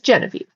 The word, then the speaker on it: Geneviève: If you don't know my name everybody, my name is Genevie. I am in the United States in a state called Nevada. One of the most barren, empty states in the entire continent. Yes, it is spelled Genevieve.